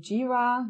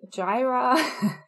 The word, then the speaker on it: Jira: Ganz wichtig, Jira wird ausgesprochen Jira, nicht Jira.